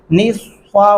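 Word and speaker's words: نصفه: تلفظ درست نہیں پڑھتے، صاد کی جگہ سین پڑھ ڈالتے ہیں۔ کیسے؟ نصفہ، نص نہیں کرنا، نصفہ، آپ کے ہونٹ جو ہے وہ گول ہوں گے نا، جیسا کہ صاد، یہ دیکھیں صاد پڑھتے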